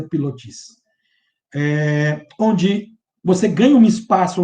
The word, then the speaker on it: pilotis: dele, o uso dos chamados pilotes, colunas ou pilotis, né, da pronúncia. Né? Para nós aqui mais é pilotis.